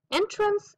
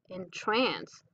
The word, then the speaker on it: entrance: the entry word how it is a noun as well as a verb and that is why it is pronounced two different ways entrance and entrance the section right here